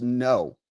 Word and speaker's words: Ngo: It's like, oh, he doesn't know it's Vietnamese. He doesn't know it's pronounced no.